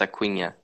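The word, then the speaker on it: Acuña: Acuna, because of the end with the symbol on it, it's Acuna.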